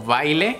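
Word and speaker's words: Vejle: la ciudad creo que se llamaba como baile en baile pronunciado pero pero no se escribe se escribe como V I l J una cuestión así hasta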